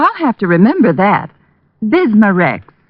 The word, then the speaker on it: Bismarex: Bismarex. Is that how you say it? That's right, ma'am. B I S M A- R E X.